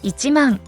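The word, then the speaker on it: 一万: nine thousand only ten thousand is not ten thousand in japanese but it's ichimong there is no when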